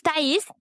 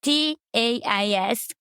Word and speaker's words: Tais: My name is Tais. Yeah, nobody knows how to say it here in the U.S. Yeah, it's Tais.